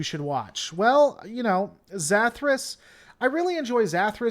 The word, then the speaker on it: Zathras: for Hosea I think that's what it was zathras that's how you say it's a therus yep